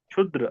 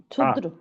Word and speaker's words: क्षुद्र: का शुद्ध क्या है अशुद्ध और शुद्ध उच्चारण कीजिए तो 173 शुद्र क्षुद्र क्षुद्र और हा अक्ष का उच्चारण है शुद्र और शुद्र क का उच्चारण एक बार फसना है गले में गले को फसाना है एक बार ठीक है